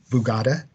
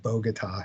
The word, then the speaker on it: Bogota: came from Robert Ramos is from bugatta I believe that's how you pronounce it New Jersey not Bogota as in Colombia and Mr Manuel hildego